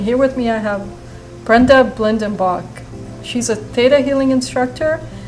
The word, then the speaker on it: Brenda Blindenbach: astral connections and here with me I have Brenda Blendon Bach she's a data healing instructor and business mindset coach did I pronounce that right yes you did good for